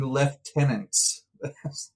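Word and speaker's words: lieutenants: The Duel the dueling left tenants as opposed to the dueling right tenants ah yes I've never uh heard it pronounced with such a strong F before but uh right tenants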